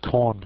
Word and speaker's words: Korn: The most popular, or one of the most popular, is the Korn shell. Just coincidentally happens to rhyme with Bourne shell.